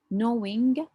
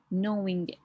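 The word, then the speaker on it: gnawing: mild pain we have knowing the g here is silent knowing pain is like biting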